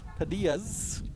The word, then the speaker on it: Padilla: Padillas. Yeah, Padillas. Yeah. We're in Santa Cruz. You have to say it properly.